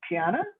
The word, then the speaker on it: Quiana: here um and um i'm afraid i'm gonna mispronounce this but is it piana yeah you got it you got it all right i'll hand it to you then so my name's kiana i live i'm physically located in ann